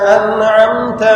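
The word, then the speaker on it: أنعمت: scene আর সদের উচ্চারণ সদ মোটা কি সদের উচ্চারণ মোটা সিরাতাল্লাজিনা আনআমতা আলাইহিম সিরাতাল্লাজিনা আনআমতা আলাইহিম আন আমতা না আনআমতা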